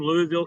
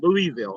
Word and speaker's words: Louisville: Louisville. It's I thought it was Louisville people. That That ain't the right way to say it. Those are the uneducated people. But it's Louisville. But anyway, they built a stadium.